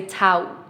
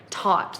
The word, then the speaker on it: taught: And we have a very strong a sound here. We never want to say tout, right? Taught.